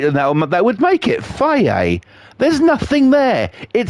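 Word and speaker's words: Fage: But yeah, there is a fucking yogurt out there on the market here in the UK called fucking, well, they pronounce it as Faye.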